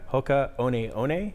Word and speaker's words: Hoka One One: Hoka One One is how you say it.